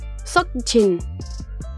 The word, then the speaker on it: Seokjin: Le O est suivi de la lettre K, mais celle-ci étant placée à la fin d'une syllabe, elle est presque muette, et ressemble à un arrêt brutal dans le mot plutôt qu'à une vraie lettre. Son prénom se dit donc Seokjin.